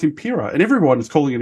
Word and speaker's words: Empiraa: But the funny thing was I kept saying it wrong because everyone's like, I kept thinking it was Empiraa because I was thinking Imperial, like Star Wars, and everyone's gone, no, it's Empiraa.